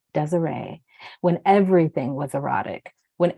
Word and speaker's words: Desiree: She wondered, danced profusely, returned to a time when her name was Desire, pronounced Desiree, when everything was erotic, when everything was beautiful, strange, and they were faggots.